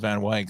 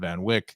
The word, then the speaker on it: Van Wyck: and like express expressway i called van wyk some people call it van wyck i don't think they'll ever uh settle settle on a proper way to say that name i think there's just